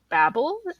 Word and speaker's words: Babel: Blake and Ninth House by Leigh Bardugo, and Babel, am I pronouncing that right?